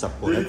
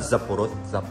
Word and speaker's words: saporito: It's saporito. Delicioso. Oh, it's not zapporo. Saporito.